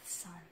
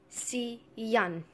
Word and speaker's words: sun: It's the sun. Sun? S-U-N. Sun. Sian. You know how, a father and son? Sian? Father and son? Yeah, it's just like saying the word son.